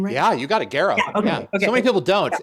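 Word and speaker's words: Gero: And and I think um you know there was talk too um Martin Garrow talked about uh am I pronouncing his last name right? Yeah, you got it. Garrow.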